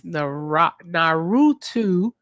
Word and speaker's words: Naruto: Cousin Jesse sent $3 and said it's Naruto. You got the 9 foxtails gift. 9-tail fox demon's name is Kurama. I pronounced that right, didn't I?